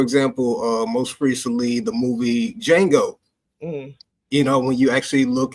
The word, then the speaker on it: Django: Because you can see D in front of the J, and you actually think that you're supposed to pronounce the D because, this is where